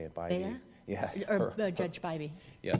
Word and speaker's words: Bybee: Bybee? Yeah. Or Judge Bybee. Yeah, Bybee.